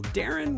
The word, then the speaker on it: Deron: You can speak to us at Good Talk Network, or I am at Digital Darren, which is spelled DERON for some reason.